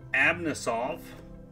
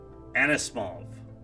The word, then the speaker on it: Anisimov: Artem Abnisov. No. Anisimov. Senators. Said it wrong three times. I think it's still wrong.